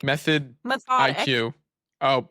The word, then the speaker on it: Methodique: They just launched Methodique. Is that how you pronounce it? I guess it's like Method methodic. IQ. Oh, I think it's like methodic, but with an IQ instead of IC.